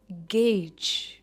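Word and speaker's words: gauge: हम बढ़ते हैं नेक्स्ट सेट ऑफ वर्ड्स की तरफ, जो है गेज। ये बहुत ही सिंपल है प्रोनाउंस करने के लिए। इट is single syllable, गेज, जिसका मतलब है टू एस्टिमेट या मापना या अंदाज लगाना, उसे कहते हैं टू गेज।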